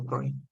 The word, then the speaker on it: Freud: Freud, escribe Freud, pronuncia Freud.